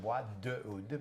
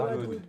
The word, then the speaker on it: Bois d'oud: See, I've been saying Bois de Oud, but no, but it's Bois Bois d'oud.